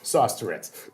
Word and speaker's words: Sosteretz: It's sauce like spaghetti and Tourette's like the syndrome. Sauce Tourette's.